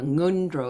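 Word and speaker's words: ngöndro: as an early nro nro is different than n nro I'm not pronouncing it that way nro it's in the back of the of the of the throat are preliminary practices preliminary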